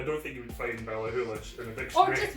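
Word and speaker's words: Ballachulish: Balahuish. It's a silent C. These people who wrote the dictionary, I swear to God. The dictionary, I don't think you would find Balahulish in a Or dictionary.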